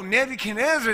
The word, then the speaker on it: Nebuchadnezzar: maybe canada yeah what oh nebuchadnezzar that's how you say it oh good right